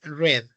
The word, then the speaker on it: read: ella leyó su libro la pronunciación en pasado de read es read Okay forma negativa tenemos